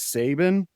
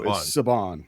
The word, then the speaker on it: Saban: So, I've I've always read this as Sabin. Uh, so Sabon.